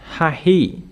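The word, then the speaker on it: ההוא: We can see this word Vamar Alagahem Bahet Hahi. We stop here because I want to show you the hey, double hey. It is pronounced Hahi, hey.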